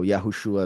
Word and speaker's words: Yahushua: that it was over so yahushua is the true pronunciation so um we see